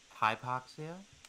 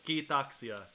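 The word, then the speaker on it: kiitoksia: Hypoxia? No, Keithoxia. Oh, okay. That's lovely. It means thank you in Finnish.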